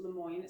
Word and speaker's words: LeMoyne: Took me a little bit longer than blocks normally do, but I have finally finished my first LeMoyne star. And that is how you say it.